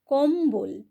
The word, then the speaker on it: কম্বল: উল্লম্ব অম্বল সম্বল তাহলে কম্বল এই যে শব্দগুলো এখানে কিন্তু আমরা ম এবং ব উভয়েরই উচ্চারণ করলাম তাহলে দেখো এই যে